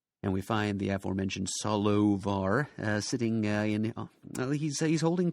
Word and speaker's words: Solovar: i v a r it's actually supposed to be s o l o v as in the wise Solomon Solomon solovar and that is one